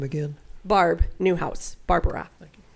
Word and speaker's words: Barbara: name again barb newhouse barbara but only if you can say it with three syllables can you say barbara otherwise it's barb any other questions miss